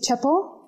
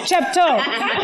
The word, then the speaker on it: Chepto: We meet Chepo. Chepto. I think all the Kenyans are like, Chepto! Get that T. We pronounce every consonant in this language. Yeah, I just dropped the T.